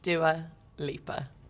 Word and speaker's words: Dua Lipa: How is Dwalipa pronounced? Dua Lipa.